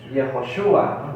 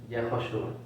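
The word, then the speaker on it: יהושע: Para los judíos actuales, Josué tiene su nombre también. ¿Cómo lo pronuncian ellos? Es particular. Yehoshua, ¿no? Yehoshua. Yehoshua. Josué en hebreo, Yehoshua. Yehoshua.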